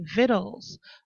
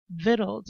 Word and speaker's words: victuals: In America, um a slightly different spelling and pronunciation would be viddles. Viddles.